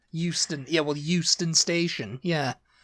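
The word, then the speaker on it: Euston: be H yeah H but you guys have a Houston and it's e u s t o n Houston yeah well Houston Station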